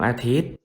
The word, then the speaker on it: อาทิตย์: saman ว่า serm ดวง อาทิตย์ อ่าน ว่า ดวง อาทิตย์ คอนเสิร์ต อ่าน ว่า คอนเสิร์ต เห็น ไม่ รู่ พอ มี ตัว การันต์ ตัว นั้น ก็ จะ ไม่ ออก เสียง เพราะ ฉะนั้น ถ้า เห็น